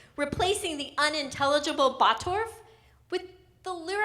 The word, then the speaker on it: Bottorff: second name my last name is even worse batorf b-o-t-t-o-r-f-f 's it's a confounding Cornucopia of consonants